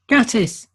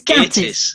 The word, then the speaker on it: Gatiss: You got to learn to pronounce his name right. It's Gatiss. Gattis. It's Gattis. Gattis. It's Mark Gatiss.